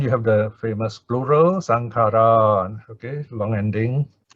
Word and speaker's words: saṅkhārā: the last case underline it is a normal short a one count sankara okay normally we pronounce indian style sankara okay plural sankhara okay so my name